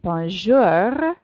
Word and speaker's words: Bonjour: French talk at home please practice your aura sound her and then try saying Bonjour and if you're not laughing or if you don't have someone nearby listening to you who's laughing then you're probably not doing it right we say if I yes totally serious I era and your Bonjour Bonjour haha and you'll actually if you're doing it right you'll start getting a sore throat eventually from practicing your her correctly and it's the best